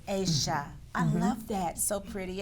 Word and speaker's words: Aysha: I keep wanting to say Aysha, but it's Aysha.